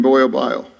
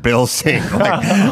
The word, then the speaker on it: Bilsing: So the congressman comes up and he's like, my name is Brad Bilsing. You should know it's not Boyle Bile.